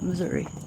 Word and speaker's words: Missouri: me state am I saying it right yeah Missouri got to show what's up